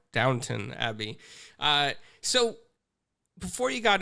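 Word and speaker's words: Downton Abbey: on uh Downtown Abbey I always say it wrong I say it's downtown abbey but it's down downtown abbey uh so before you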